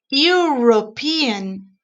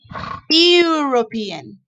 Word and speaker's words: European: that when we pronounce when we pronounce the u european okay it sounds the same as unicycle right it's the same sound look european unicycle is the same